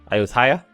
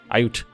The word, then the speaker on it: Ayutthaya: Ayutthaya? I think you got to pronounce that T. Ayutthaya.